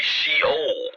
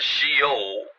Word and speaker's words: Sheol: Another name would be Sheol, right? And Sheol means hell, alright? Now we can just start rhyming here. So you got Sheol, right? Which sounds like shell.